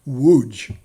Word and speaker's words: Łódź: it's pronounced wooch well i finally arrived